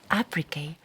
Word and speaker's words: apricate: Actually, I was thinking, apricate rhymes with fornicate.